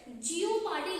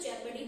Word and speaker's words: jeopardy: जियोपार्डी लिखने में होता है JEOPARDY, और इसको हम लोग जब प्रोनाउंस करते हैं तो इसको जेपर्डी बोला जाता है।